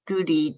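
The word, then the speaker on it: Goudie: into um in lachlan uh he oh lachlan goody it's it's spelled g-o-u-d-i-e and if he does lectures on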